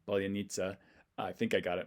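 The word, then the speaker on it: паляниця: loaf of bread, and she actually gave me what she thought the Russian pronunciation would be. Polonitsa. But she wasn't too sure of it. She just knows this is how you say it in Ukrainian.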